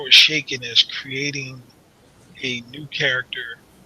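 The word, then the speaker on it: Chaykin: be really really good are you familiar with how it's shaking it's spelled c-h not sh am I familiar with it are you familiar how it's shaking he pinned a mid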